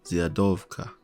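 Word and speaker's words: Zwiadowca: I'll call this SP here's how this is pronounced zova translates to Scout or Pathfinder which is why I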